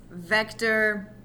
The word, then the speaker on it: Vector: I cannot believe I said that um it's vector mhm we're not counting Knuckles though so three